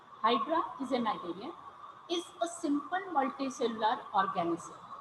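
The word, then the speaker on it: cnidarian: starts with C but C is silent over here so we pronounce it as narian Hydra is a narian is a simple multicellular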